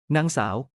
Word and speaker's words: นางสาว: นาง นาง นาง นางสาว Non rhymes with sung and saw like cow with an S. This formal title is for unmarried women, equivalent to Miss. นางสาว นางสาว นางสาว คุณหญิง Kud is above ending liking and playing.